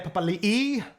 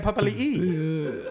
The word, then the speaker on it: Papali'i: Isaiah Papali'i, locking the scrum. Sorry, one more time. Isaiah Papali'i. It's the correct pronunciation. I thought it was Papali. No, that Josh Papali is Papali, but Isaiah is Papali'i.